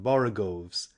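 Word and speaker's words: borogoves: the first o in borgovs is pronounced like the O in borrow I have heard people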